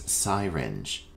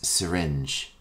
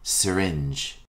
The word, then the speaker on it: syringe: before your meal our next term is commonly mispronounced as syinge the correct pronunciation is syringe repeat after me syringe a syringe is a medical instrument used to